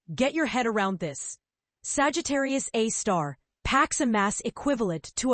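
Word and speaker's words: Sagittarius A*: This is Sagittarius A, pronounced Sagittarius A star, the super massive black hole lurking right at the very center of our own Milky Way galaxy.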